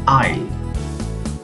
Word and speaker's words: isle: Interesting word, island and isle. There is no S pronounced.